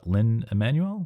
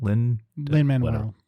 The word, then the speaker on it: Lin-Manuel: i know uh and i never say his name right uh lin emanuel lin manuel lin-manuel thank you um everything else that